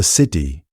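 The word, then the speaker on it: Sidhe: The Sydi pronounced something like she with a long open vowel referred in the old Irish understanding to the fairy mounds themselves, the ancient earth and hills.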